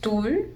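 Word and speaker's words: 둘: This is pronounced tul. We did learn d today, and we know u, but we haven't learned this yet. So just know it's tul.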